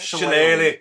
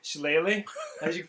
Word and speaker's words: shillelagh: So as you cast, how do you pronounce that? Shillelagh. Shillelagh.